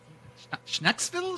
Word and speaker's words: Schnecksville: Dutch Pennsylania Dutch almost it wouldn't be like I'm I'm just going to say like skille oh hit the C hit the C like a k I like that yeah